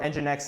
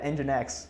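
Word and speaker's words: nginx: If your engine X says, I only want 100 100 gigabyte file, I only want to accept 100 megabytes, engine X is going to block it.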